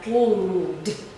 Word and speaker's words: cleaned: So as you notice, there are 3 different sounds, even though the ending spelling is the same. Okay, they all end in ed, but the pronunciation is different.